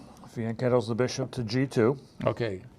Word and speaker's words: fianchetto: We know a lot of players who pronounce it fianchetto, Mm-hmm. but let's correct all these players who are watching and say pronounce it like a true Italian would, fianchetto.